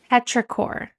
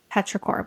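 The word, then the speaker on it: petrichor: Petraor. It's P E T R I C H O R. Petraore, which is the smell right after it rains.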